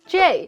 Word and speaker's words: 这: 然后虽然其实不知道然后我是双鱼座虽然其实我不知道这到底是什么意思。By the way, 这 is actually pronounced as J in northern China, or basically just in Putonghua nowadays.